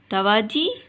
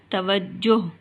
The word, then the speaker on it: توجہ: یہ دونوں غلط ہیں، تواجی اور تواجہ، تو یہ دونوں غلط ہیں۔ کتاب میں یہ غلطی دی گئی ہے۔ صحیح تلفظ ہے توجہ، یعنی جیم کے اوپر پیش اور شد کی علامت آئے گی۔ ہمیں جو دونوں جواب